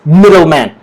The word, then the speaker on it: middleman: So the stress, is stronger in the first syllable.